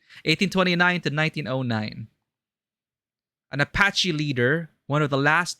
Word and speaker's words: Apache: tough looking Apachi sorry how do you pronounce that correctly Apachi Apache Apache thanks Google a portrait of a